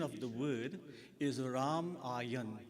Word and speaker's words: Ramayan: The correct pronunciation of the word is raayan. Ramayan and the Ramayan ayan means journey.